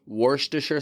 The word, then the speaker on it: Worcestershire: you somehow came across the opportunity to say wor diser sauce in front of your boss or better